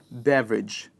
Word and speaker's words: beverage: beveridge cider barley there's there's just one word in the list where we are pronouncing the ra sound and that word is beverage i should circle this